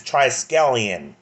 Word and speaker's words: Triskelion: I know some people having a hard time pronouncing it. It's Triskelion.